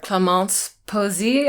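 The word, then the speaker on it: Clémence Poésy: I was hired as a stand-in for Clémence Posey. I think that's how you pronounce her name.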